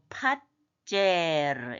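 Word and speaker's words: מְפַזֵּר: 자, 그 다음에 자인 안에 점이 들어있어요. 그거는 중복점이라서 하나는 밑으로 받침으로 내려가니까 팟제르 이렇게 팟제르.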